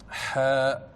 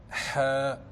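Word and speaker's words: ح: Le son vient du milieu de la gorge. Ha, Ha. Entraînez-vous bien à prononcer cette lettre avec votre prof d'arabe ou votre prof de Coran, car ce son n'existe pas dans la langue française.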